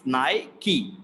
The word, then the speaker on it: Nike: brand it is nike in the british pronunciation it is nike it is not nike it is naiki naiki i love nike